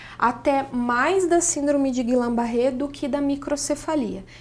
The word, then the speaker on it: Guillain-Barré: É essa a pronúncia, Guillain-Barré.